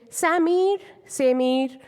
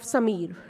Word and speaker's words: Sameer: take an example of Sameer so some people in in U.S they say Samir Samir so if we break down this name as sum and eer it makes a connect correct pronunciation of Samir and in Indian language